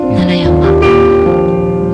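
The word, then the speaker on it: 平城山: 奈良山、はい、平城山と書いて奈良山、あの万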